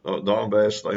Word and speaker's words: Donbass: for 8 years, between Russian separatists in the Donbass, as it's pronounced, region over near the Russian border.